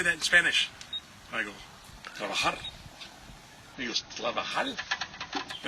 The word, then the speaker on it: trabajar: I go, "Trabajar." And he goes, "Trabajar?" And I go, "No, trabajar, trabajar. You have to roll your R's.